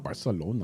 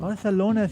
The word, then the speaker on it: Barcelona: Barcelona. Why does everybody say it like that? Because in Spain, they say Barcelona? Yeah. Really? Yeah, for S's, they have the... Like a TH kind of.